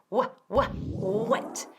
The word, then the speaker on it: wet: Wet. Imagínate que vas a decir hueso y quita la primera sílaba, y añade un T. Wet. Eso es, wet. Y quiero oír la T al final.